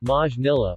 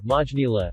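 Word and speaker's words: Maynila: Manila Filipino Manila pronounced Majin illa or vaj nila officially the city of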